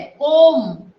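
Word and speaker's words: comb: बोलो कोम, कोम, इसमें B silent है। कोम, म पे एम ही, म पे ही अपना प्रोनाउंसिएशन बंद हो जाता है।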